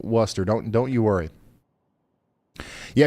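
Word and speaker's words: Worcester: It's pronounced like rooster. Okay. Hey, listen. You guys have to figure this out. I'm I'm still saying Worester.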